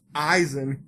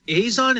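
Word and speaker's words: Eizan: what he's already got I thought it was isin like the villain from blades it's pronounced Azon in the anime I heard I heard ease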